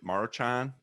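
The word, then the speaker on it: Maruchan: of soup let's go marochan is how you say that yeah march on yep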